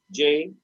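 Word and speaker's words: Jai: J, the pronunciation was J, like Jay.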